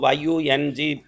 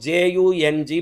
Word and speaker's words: Jung: यंग बोलते हैं Asian countries में, उसको YUNG प्रोनाउंस करते हैं, यहाँ लोग JUNG प्रोनाउंस करते हैं।